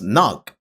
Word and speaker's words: knock: English has many words with silent letters like the K in knock or the B in thumb.